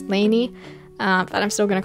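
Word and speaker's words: Lanie: and i call her lonnie because my grandma's name is also lonnie and so i just thought that that was the pronunciation but i guess it's lainey that i'm still going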